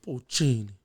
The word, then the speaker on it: Puccini: Puccini. You gotta say it like that.